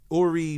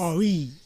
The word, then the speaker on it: Aurie: That's Aurie. yeah, kind of. Did I butcher that? No, it's fine. It's fine. She spelt it a French way. We don't pronounce it that way.